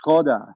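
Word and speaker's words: Škoda: Skoda, it's Skoda. Right. It actually has got S with a little thing on top, all right? So it's a little accent. It's pronounced sh as SH, all right?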